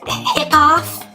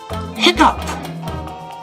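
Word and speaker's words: hiccough: Golly, is it hickoff? No. Hiccup. No. Oh, it's hiccuff. No. Hiccup. No. Oh. No, you're all wrong. Are you even paying attention? This word is hiccup.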